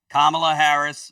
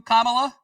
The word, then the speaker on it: Kamala: This headline, Kamala Harris works to build bridges in the business world.